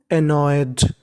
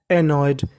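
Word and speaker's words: annoyed: की मीनिंग है उसमें एन दो बार लिखा है उच्चारण एक बार करना है और ईडी ईडी को केवल ढ पढ़ना है ही was also एनॉयड एनॉयड A double N ओ वाई इसे पढ़ेंगे एनॉय फिर उसके बाद ईडी लिखा है तो क्या पढ़ेंगे एनॉयड एनॉयड का मतलब परेशान था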